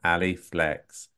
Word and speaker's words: Ali Flex: Ali Flex. Ali, did I pronounce that correctly?